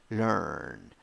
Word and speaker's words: learn: 5 letters, 4 sounds, 1 syllable, and the vowel is schwa. Pronunciation: learn, learn.